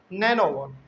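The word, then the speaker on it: nonagon: 7 number है हमारा नोनागोन। 6 हो गया। 7, लेकिन हम लोग इसका उच्चारण जो है ना नैनोगोन ही करते हैं। खैर जो बुक में लिखा हुआ वही लिख लेते हैं, NONA, नोनागोन।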